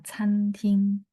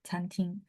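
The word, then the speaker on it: 餐厅: Tapi kalau restoran, itu ngomongnya Fanguar atau Canting. Chan, ya, C-A-N, bacanya ada angin, Canting.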